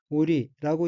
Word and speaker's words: 降り: 다음 어휘의 한자는 내릴 강자이고 일본어로는 오리라고 읽으며 오리는 내리다, 내려오다, 내려가다는